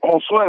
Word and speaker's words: Josue: Oh, Josue, that's what I said. Yeah, all right, Josue is fine. All right, Joshua.